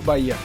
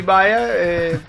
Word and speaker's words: Baia: A pronúncia justa? Bahia. Baia. Eu li Baia. Na verdade o meu Bahia, né, ele não tem o H, ele tem um acento no I, mas no digital, para